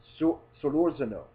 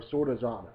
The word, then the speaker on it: Solorzano: I have heard mixed pronunciations on it. Typically, the pronunciation would be Solorzano, but I actually had one of the guys from the distillery stop by and tell me that it's Solorzano.